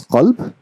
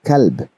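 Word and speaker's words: قلب: One is qalb, which means heart. If I pronounce it with kalb, with a light kaf, what do you think the meaning would be? The meaning would be dog.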